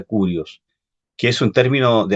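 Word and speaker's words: κύριος: es en el griego es kirios se pronuncia curios que es un término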